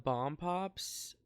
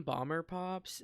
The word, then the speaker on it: Bomb Pops: grew up eating the Bomb Pops um don't ask why but I always called them bomber pops and I recently got told that I was saying it wrong and I wanted to